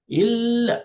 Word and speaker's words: إلا: So illa, illa. So you cannot say ill.